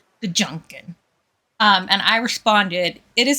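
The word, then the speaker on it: GJUKN: So, Doodlebee typed in chat, or somebody typed in chat, capital G, J, U-K-N, Gajunkin, I think is how we should pronounce that. Gajunkin.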